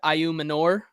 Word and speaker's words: Ayo Manor: Same with Ayo Manor, which I finally figured out that was how you say it, Ayu Manor.